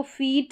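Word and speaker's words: feet: तो दोनों के उच्चारण में फ़र्क है, एक हो गया फीट जिसमें डबल ई आ रहा है, और एक होता है FIT फिट जिसमें आई का शॉर्ट साउंड आ रहा है, ठीक है।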